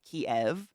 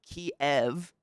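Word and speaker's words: Kyiv: pronunciation of the city if you pronounce it kiev that is the russian pronunciation of the city and so to the people of ukraine that is essentially acknowledging that kiev belongs to the russians the ukrainian pronunciation however is kiev so then you're like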